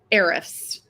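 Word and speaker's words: Ahrefs: hear you say it I hear arffs is that saying it right that's how I say it I have no idea it's it's spelled a FS but I hear riffs that's not really what it looks like to me grammatically or phonetically but that's okay so you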